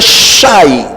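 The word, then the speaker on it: שי: En hebreo la expresión regalo se dice shai y se escribe con las letras shin y yot.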